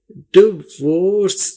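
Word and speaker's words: divorce: यहां पर देखिए डिवोर्स देखिए आई की कोई आवाज नहीं है हमने समझाने के लिए यहां पर आई को निकाल दिया है लेकिन स्पेलिंग में आपने डी आई वी ओ आर सी ई याद रखना है लेकिन आवाज के लिए देखिए डिवर्स देखिए टी के साथ डायरेक्ट वी है डिवर्स देखिए ड व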